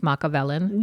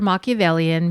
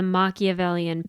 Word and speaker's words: Machiavellian: or dacity to call Christine Machiavellian which he mispronounced as machiavellen yes and um he calls her Machiavellian meaning like she's behind